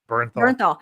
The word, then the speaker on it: Bernthal: Bernthal.